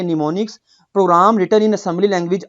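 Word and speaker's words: mnemonics: इस प्रनंसीएशन एक निमोनिक्स एम को साइलेंट करेंगे इसको पढ़ेंगे निमोनिक्स programme detail in assembly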